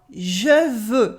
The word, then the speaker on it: je veux: And now, je veux, for I want, je veux. Here the X is silent, we have two ways of saying the Je veux.